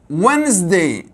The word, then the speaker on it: Wednesday: الكلمة الأخرى Wednesday، لاحظ كلمة مختلفة تماما عن شكلها بالكتابة. لا نقول Wednesday حرف silent، silent letter يعني حرف صامت لا ينطق. Wednesday مباشرة Wednesday Wednesday. إذن الأس أيضا نفضها ز، إذن الدي silent حرف صامت.